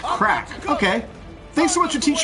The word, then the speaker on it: craic: they'll still be a gold saucer day absolutely pronounced crack okay thanks what you teach you at work